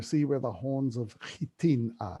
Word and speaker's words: Hattin: red and you see where the horns of hitin are it's called it's spelt hatin for some odd reason but it's actually pronounced chitin i talked about the crusaders at sipori and